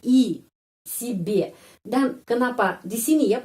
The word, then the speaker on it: себе: mendapat penanan kalau tidak mendapat penanan huruf BAC pengucapannya i si b dan kenapa di sini ya pengucapannya di sini